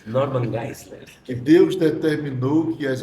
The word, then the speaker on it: Norman Geisler: Eu gostei da sua pronúncia, Norma Geisler. Norman Geisler.